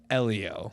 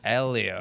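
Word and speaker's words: Hélio: I thought it was Hey, it's not hey Leo. Hey, Leo. No, no, it's Elio. Elio. Like H doesn't even exist.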